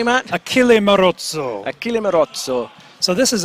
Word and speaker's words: Achille Marozzo: Did I pronounce that correctly, Matt? Achille Marozzo.